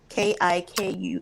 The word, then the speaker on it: Kikuyu: spelled with a K. Kikuyu.